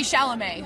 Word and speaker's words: Chalamet: And it's got Armie Hammer and then this guy Timothy Chalamet, who's a teen.